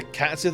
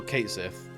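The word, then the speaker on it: Cait Sith: pronounced by Square Enix, it was also either Cat Sith or Kate Sith.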